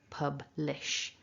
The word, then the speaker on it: publish: So our first syllable ends in the b, pub, and then we've got to go from a b to a l for lish, publish.